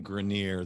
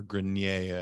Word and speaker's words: Grenier: Yeah, it's really fascinating because I was listening to a podcast today, and Adrian Grenier, the gentleman, or Grenier, I think is how you properly pronounce it, top of the fame.